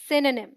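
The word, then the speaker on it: synonym: की रंग प्रनंसीएशन है सेन साउंड लाइक सन आज इन वन और इसे D stressed syllables D O sound इस ड्रॉप्ड और ए और साउंड लाइक नीम अजान हम सो डी राइट प्रनंसीएशन इस सायनोनिम लेट डू आईटी टुगेदर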